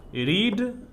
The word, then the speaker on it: read: पढ़ेंगे रीड means पढ़ना, और V2 को पढ़ेंगे रेड, लिखा जाएगा स्पेलिंग READ, लेकिन पढ़ेंगे रेड, इसका प्रोनाउंस होगा रेड मीन्स पढ़ा।